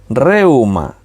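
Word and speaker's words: Reúma: Tiene el acento en la U. Reuma.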